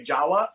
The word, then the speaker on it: Jahed: your name because i want to say jawa because i think it's it's like the closest thing i can pronounce the java that's kind of how it's pronounced but it's actually j-a-h-e-d